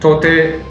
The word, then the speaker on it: Tauktae: The cyclone that formed recently in the Arabian Sea is called Cyclone Tauktae, and it's spelled Tauktae. The K is silent, and Tauktae, the name was given by Myanmar.